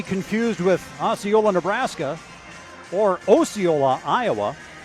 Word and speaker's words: Osceola: Osceola, Florida, not to be confused with Osceola, Nebraska, or Osceola, Iowa. And yes, it is pronounced Osceola in Iowa. I learned that the hard way.